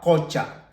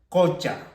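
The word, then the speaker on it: qucha: Tenemos otro ejemplo, aquí tenemos la Q, por lo tanto esta U se tendría que pronunciar con la vocal O, que sería cocha, cocha, cocha significa laguna.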